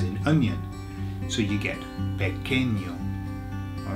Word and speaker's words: pequeño: The reason is because when you get a QU in Spanish, you don't say qu, you say k, k, okay? So it's just like a K sound.